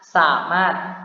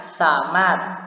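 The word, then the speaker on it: สามารถ: Nah, di sini dia tidak dibaca samart dengan bunyi R lalu bunyi T, melainkan hanya samat. Oke? Saya ulang, dia dibaca samat.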